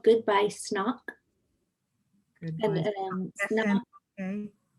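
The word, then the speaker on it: Snauq: it's called Goodbye Snock. Goodbye. And SN, Snock, okay. Snock is spelled S-N-A-U-Q.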